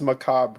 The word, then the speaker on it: macabre: through the hallways it's Macabre Chris it's just Macabre you don't pronounce the r the corn macabre yeah